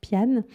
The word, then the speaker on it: Piana: les calanques de piana ça s'écrit piana ça se prononce piano et donc ses calanques